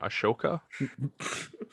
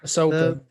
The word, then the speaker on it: Ahsoka: Ashoka? Sorry. Ahsoka. Ahsoka. That series looks really good. Like, it looks like it's going to be pretty good. It's just like let's take the Clone Wars and give Ahsoka her own thing.